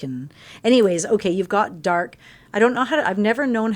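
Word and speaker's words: D'arc: anyways, okay, you've got dark. I've never known how to pronounce it. It's a D and then an apostrophe ARC, but I sound mean if I go dark. That doesn't sound very nice.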